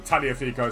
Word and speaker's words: Tagliafico: Tagliafico. Or Tagliafico, some people say it is. Because they pronounce the G, apparently.